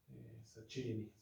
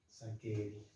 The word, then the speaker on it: Saccheri: Bueno, no, nombres italianos. Saccheri. Eso sí me acuerdo. Se escribe Che, se pronuncia que. Saccheri.